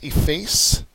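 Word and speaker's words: efface: the next word is e face uh the second syllable has the accent mark it's a verb and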